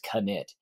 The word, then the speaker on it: Knytt: the the the knit series and it is knit it's k-n-y-t-t i called it knit underground for